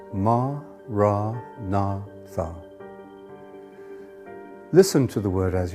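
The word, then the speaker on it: maranatha: you choose that word say it as four syllables ma ra na Tha listen to the word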